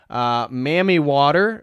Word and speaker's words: Mami Wata: Again, here's another variation of a mermaid, and this is Mami Wata, as I said. Mammy Water as another pronunciation, Mami Wata, or La Sirene.